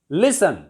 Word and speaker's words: listen: Listen. Listen. Listen to something. Listen to music. Listening to music. Ends in TEN. T is silent in all the words ending in TEN.